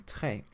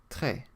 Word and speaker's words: très: The letter E with a grave accent, like the one in très, should be pronounced like the E sound in the English word fed, so très.